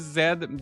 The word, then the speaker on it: Z: know it sounds cool most Americans pronounce it Z that's true I don't like Z I think it's because in French I know like Canadian English we're supposed to say Zed right but in French we